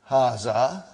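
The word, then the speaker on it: هذا: Haza see it is pronounced like ha.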